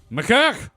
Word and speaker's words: macaque: Like, do you pronounce it macaque or macaque? It's macaque. Is it macaque? I've always heard macaque.